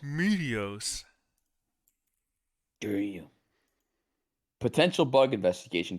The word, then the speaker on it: Meteos: it's uzi meteos yo they say my name right meteos meteos do you potential bug